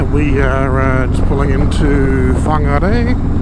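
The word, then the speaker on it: Whangārei: But yeah, we are just pulling into Whangarei, which a lot of people will call Whangarei, which I believe is quite wrong.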